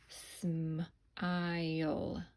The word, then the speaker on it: smile: good look at it smile and then that silent e doesn't say anything smile all right I'm